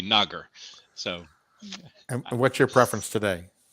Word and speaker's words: Nager: hard a so it's negr and then in germany we say nagar so what's your preference today uh nagar's fine it rhymes with lager it's easy there you